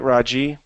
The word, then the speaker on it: Raji: And I am pronouncing your name properly. Is that right, Raji? Very good.